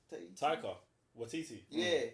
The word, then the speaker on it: Taika Waititi: I can't pronounce it. What? Taika. Taika Waititi.